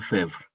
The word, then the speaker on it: Febvre: Sería Marc Bloch, Bloch como si fuera G, Bloch, y Lucien Febvre. Nada más como si pronunciaras las primeras cuatro bueno, más bien sin la vocal final.